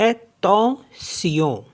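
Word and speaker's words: attention: तो टी टी ई एन को पढ़ेंगे तोत एत सियो एतो सियो अटेंशन नेक्स्ट वर्ड है ए सी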